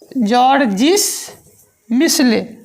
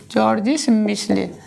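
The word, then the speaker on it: Georges Michelet: नाम इनका है जॉर्जिस, GEOR क्या है, जॉर्जिस मिसले, जॉर्जिस मिसले, MICHELE, है ना। जॉर्जिस मिसले, टी साइलेंट है यहाँ पे।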